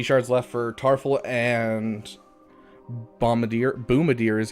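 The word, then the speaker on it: Boomadier: So, I only have 50 shards left for Tarful and Boomadir is how it's pronounced, just saying.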